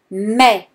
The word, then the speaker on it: mais: Mais, so here again, the last consonant is silent. Mais.